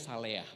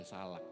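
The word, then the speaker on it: צלח: Next, dan kata menyertai dalam bahasa aslinya adalah Bacanya Saleah, bukan Salak, saudara. Saleah.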